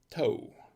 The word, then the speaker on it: Thau: is a blue blond toe blue that's pronounced it looks it says thou but it's pronounced toe and this is a